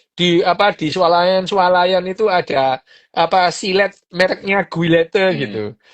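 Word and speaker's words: Gillette: Kan kita sering tahu ya sekarang yang namanya di swalayan itu ada apa silet mereknya Guilete Hmm. gitu. Lo itu dibacanya silet itu. Silet.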